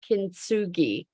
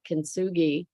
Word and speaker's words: kintsugi: It's called kintsugi, and it's taking something that's broken, like a broken bowl, and mending it with resin that is embedded with gold.